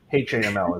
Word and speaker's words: Haml: I think it's Hamel. It's British actually. Say HAML. HAML is actually the way you say it now.